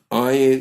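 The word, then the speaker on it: עין: value of 60 ayan ayan is an other silent letter for all intents and purposes in our generation ayan is not silent the mystical texts tell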